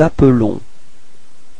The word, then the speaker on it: appelons: Nous nous appelons. Repeat. Nous nous appelons. Okay, so you can notice that the pronunciation is a bit different for the verb. It's appelons. Okay, because there is only one L there.